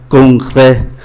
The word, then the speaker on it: congrès: Congrès, mang accent grave thì phát âm là e.